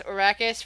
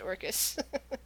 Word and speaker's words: Orcus: I keep pronouncing it as Oracus for some reason. I think it's just pronounced Orcus.